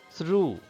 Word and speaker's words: through: Through, through, GH. These are the two letters which are silent, I mean which are not pronounced in the word through.